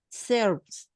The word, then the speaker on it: serve: La E al final no suele pronunciarse. Serve. Okay, so we got the pronunciation until serve, until the V.